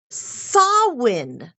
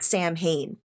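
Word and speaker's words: Samhain: has its roots in the ancient Celtic Festival sawin it's a gat word it I mean you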